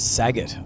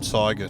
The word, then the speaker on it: Siegert: Well, everyone was getting into us for mispronouncing Barubin, and I was brought on as, I think it was Saget. Siegert.